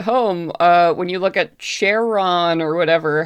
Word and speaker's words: Charon: When you look at Charon or whatever, how you pronounce it, it is pronounced Charon Yeah, in Charon. Greek. So it's basically Karen.